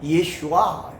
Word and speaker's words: 예슈아: 예수는요, 우리 한글 발음이고요, 헬라어 발음은 예수스인데 히브리어 발음은 예슈아.